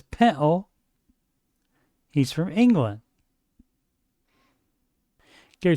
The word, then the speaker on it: pintle: Gary then finds a pintle, and the production team opts to put the translation on the screen because Gary does not pronounce the T. He says pintle.